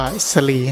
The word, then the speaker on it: ศรี: ครับ ก็ คือ ว่า คำ ว่า สี่ ก็ คือ ล้านนา อ่าน ว่า สะ ลี นะ หมาย ถึง ต้น